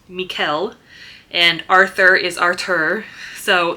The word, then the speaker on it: Michael: And so it's Lucy and Sara and uh Sara's husband is spelled Michael but pronounced Mikuel and Arthur is Arthur.